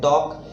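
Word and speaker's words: talk: जैसे WAL के इसमें L साइलेंट है तो वॉक, TAL के L साइलेंट है टॉक, CHAL के L साइलेंट है चॉक, CALM L साइलेंट है काम, PALM पाम, CALF में L साइलेंट है काफ हाफ।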